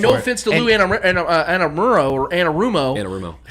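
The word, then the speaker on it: Anarumo: an answer and no offense to Luan or Anna rumo I said it right yes yep but Patrick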